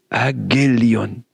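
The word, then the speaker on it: εὐαγγέλιον: Et ça se prononce, en grec ancien, Agélion.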